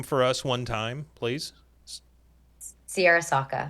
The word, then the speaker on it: Searra Sawka: Searra Sawka.